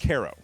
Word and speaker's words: Cairo: How's it pronounced? Cairo.